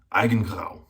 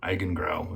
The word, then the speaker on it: Eigengrau: And that is Barrister and Mann's Eigengrau. Or Eigengrau, if you don't speak German.